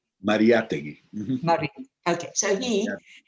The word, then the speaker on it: Mariátegui: And this famous, you pronounce it Miragui? I'm not. Mariátegui.